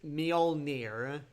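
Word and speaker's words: Mjölnir: Yeah, the hammer is pronounced Mjolnir. Mjolnir. At least that's that's what I keep hearing.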